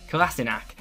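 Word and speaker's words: Kolašinac: new boy kassak yeah kassak I used to call him kinich 2 until Arsenal's Twitter released this video this is how you say my name SE kassak anyway kassak was included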